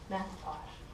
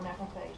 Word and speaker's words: macrophage: when activated and matured, is a macrophage or macrophage, depending on how you pronounce it.